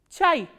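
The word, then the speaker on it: чай: How will you pronounce this word? Ch, a, e. Chai.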